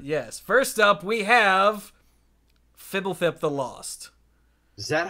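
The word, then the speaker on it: Fblthp: It is actually Fibblethip. Yeah, that's how Mark Rosewater pronounces it on his podcast when he happens to mention it.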